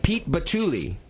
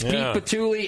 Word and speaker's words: Pete Batule: to um oh man I just asked a pronunciation to but Pete batuli did I remember it right Pete you got it yes Pete batuli and Matt wisley are on the program with